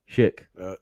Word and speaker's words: Schick: Schick, yeah.